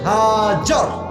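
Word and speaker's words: هاجر: বউয়ের নাম বিবি হাজার। নাম কি বলেন সবাই? আমরা বলি বিবি হাজেরা, এটা সঠিক উচ্চারণ না, আরবি উচ্চারণ হচ্ছে বিবি হাজার।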